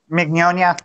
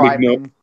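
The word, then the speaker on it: Mignogna: How do you pronounce his last name? Mignonia. That's how Mignonia.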